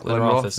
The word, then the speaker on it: Glenrothes: But it's Glenrothes. It looks like Glenrothes. It's Glenrothes.